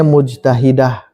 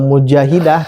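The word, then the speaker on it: مجتهدة: Bacanya mujtahidah. Kalau mujahidah, tadi ada yang menerjemahkan mujahidah, itu beda.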